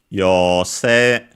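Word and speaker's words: 妖精: A good example of a word that has both the O-U combination and that you read as long O, and the E-I combination that you read as long E. There are some who still pronounce the E-I combination as A, but in standard Japanese it's long E, and so yose should be unaccented, but I'll check it.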